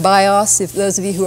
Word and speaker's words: BIOS: is a an acronym because it is pronounced as if it were a word bios if those of you